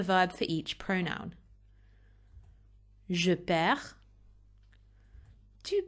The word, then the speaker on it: perds: Je perds, tu perds, il, elle perd, on perd. And you'll notice that so far, I haven't actually pronounced the D or the S for any of those. It's silent.